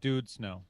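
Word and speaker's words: Død Snø: And later in the That's show, pronounced Dude Snow. Dude Snow. Yeah. No, it's Yeah, Dodge and Snow. with two dots as ooh.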